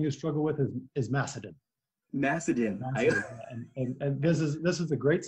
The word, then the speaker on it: Macedon: Macedon.